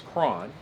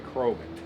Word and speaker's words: Croghan: The pronunciation is Cron.